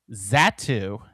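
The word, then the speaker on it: Xatu: Um, and then the final one, Pokemon 178, is Zatu, even though it's spelled with an X. Zatu is a mystic Pokemon.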